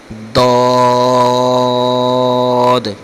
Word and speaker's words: ضاد: ہے لفظ ضاد ضاد۔ بعض جو اس کو ضاد پڑھ دیتے ہیں یا دعاد پڑھ دیتے ہیں یا دعاد، اس طرح کسی طرح بھی ادائیگی درست نہیں۔ درست جو اس لفظ کی عربی لہجے کے مطابق، عربی پڑھنے کے مطابق جو اس کی ادائیگی ہے، جو اس کا مخرج ہے، یہ بنتا ہے ضاد۔ آگے بھی حروف مستعلیہ